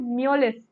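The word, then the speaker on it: Mjolis: game which is called Mullis. Again, the J is silent, guys, all right, and वो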